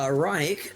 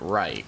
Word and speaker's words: Reich: His dad pronounces it Reich, but he goes by Reich.